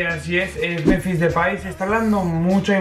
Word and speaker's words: Memphis Depay: Bueno, no se dice Memphis Depay, se dice Memphis Depay.